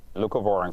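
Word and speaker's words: leucovorin: It's Luca Vorin, right? Luca Vorin.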